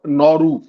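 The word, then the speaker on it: Nauru: हाँ, सुदेश कहते हैं, Modi ji, there is a small country called नौरू, pronounce similarly two नेहरू.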